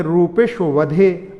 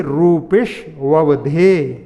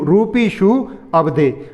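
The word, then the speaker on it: रूपिष्ववधेः: कई लोग ऐसे करते हैं रूपिश वधे। अब वधे क्या है? वधे से अवधे का कहीं से कहीं तक उच्चारण नहीं होता है, तो इसलिए रूपिश ववधे, यानी रूपीशु अवधे।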